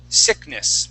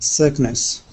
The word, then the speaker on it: sickness: word sickness okay uh you had used an e sound for that I what we want to use is the short I sound okay and that sounds like this we say s instead of C we say si sickness try that sickness sickness